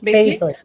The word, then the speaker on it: Basley: How do you pronounce that? Basley. Yep.